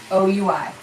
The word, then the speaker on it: oui: French word all right it's o u i o u i all right that's how you spell it oui okay oui is pronounced wheat it is not oi